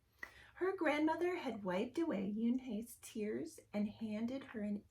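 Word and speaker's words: Unhei: "Uni?" the girl asked, scrunching up her face. Uni," some kids chanted. No, Yoonhae corrected. It's spelled U-N-H-E. It's pronounced Yoonhae.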